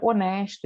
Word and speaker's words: honest: antes da consoante h quando essa consoante h não tiver som né quando for 1 H mudo o tanque por exemplo a palavra honesto inglês a gente fala o nas não tem som esse h.son Inicial escuta